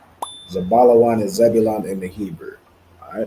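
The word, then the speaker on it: זבולון: the Hebrew so again you're going to spell it out and okay the correct answer is zabala Wan zabala Wan is Zebulon in thew all right well then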